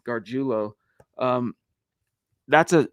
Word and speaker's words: Gargiulo: Nick Garulo, which by the way, that is the pronunciation of his name, Gardulo.